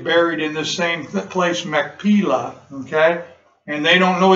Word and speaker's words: Machpelah: having trouble this morning, which is Mechiplah. I'm not pronouncing that correctly at all. I'll probably come to me. Which he hath, which is in the end Machpelah. That's what it is, Machpelah.